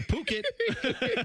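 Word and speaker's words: Phuket: you better go to Puket and sell that on it. That's a t-shirt, people. That's a You can't read that one the correct the way it looks. It's not the way it's spelled.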